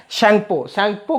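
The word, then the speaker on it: Tsangpo: याद रखिए T silent होगा, शैंगपो के नाम से चाइना में बहती है।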